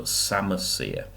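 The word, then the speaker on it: psammosere: which another key word we call a sama seer as a silent P so samasya and you know you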